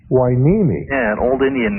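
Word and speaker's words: Hueneme: M the Gold Coast and how do you pronounce it wiimi wiimi yeah an old Indian name must be TW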